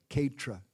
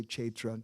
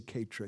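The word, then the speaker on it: kshetra: place is uh vipriolumba ketra you may say chaitra depending on your pronunciation we say ketra here uh vipraumba the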